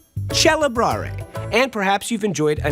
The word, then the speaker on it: celebrare: When the C is followed by an E, the K became a ch. The word celebrate in Italian, celebrare.